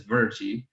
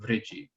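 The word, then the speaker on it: Vṛji: But this right above Magadha, we also have this says Virji, although in modern pronunciation, that R with the dot, in classical Sanskrit, that is a vowel, but in modern pronunciation, that would just be Vriji.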